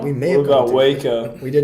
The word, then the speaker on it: Waco: We may what have about Waco? We did not go to Frisco or Waco. Frisco's where I live. It's pronounced Wacko.